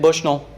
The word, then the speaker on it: Bushnell: Sydney's from Bushnell, and that's how you say it, Bushnell.